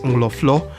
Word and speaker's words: Nkroful: From Axim in the western region, 5 kilometers from the coastal highway from Isiam Town Junction, we arrived at Nkroful, which natives pronounce as Nkroful, meaning crowd.